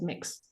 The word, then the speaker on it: Mx: used these days is mix which is spelled MX and it's pronounced as mix in one of the